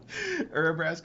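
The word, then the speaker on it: Urabrask: Don't even know what Brask is or even how to spell it to look it up. Brasque. All right, we we can edit that out. Urasque is U R A B R A S K. Urasque the hidden.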